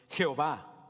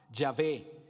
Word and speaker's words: Yahvé: nombre propio de Dios Jehová yahvé yahua o yovi según quieras eh pronunciarlo pero este aspecto del